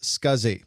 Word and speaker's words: SCSI: the drive was operational the abbreviation SCSI is pronounced scuzzy and this stands for